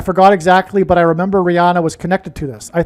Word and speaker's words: Rihanna: So the news came out on 8/8, the day of the Lahaina fire, and she is Rihanna, which rhymes with Lahaina.